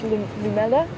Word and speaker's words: lumela: his name I think it was lumela that's how you say it which meant orange because